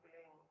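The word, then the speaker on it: क्लीं: छोटा सा मंत्र है बीज मंत्र है के आधा ल में मिला हुआ बड़ी की मात्रा ऊपर बिंदी है के ऊपर बिंदी लगते अंग हो जाता ना आप मन मन बोलो अंग तो य स्क लगता है अंग और इसम अंग रिपीट होता है बारबार क्लिंग में अब रिपीट होने में असुविधा होती तो हमारे संतो ने उसको जपने का तरीका बताया क्लिंग कृष्ण क्लिन क्लिंग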